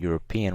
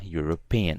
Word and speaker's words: European: There's an E, but we don't pronounce the E when saying European. We pronounce the U. So although there's a vowel here, we're gonna write a. So a European and not an European.